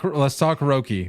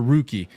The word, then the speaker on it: Roki: Let's talk Roki or Rookie. Whatever your choice of pronunciation is.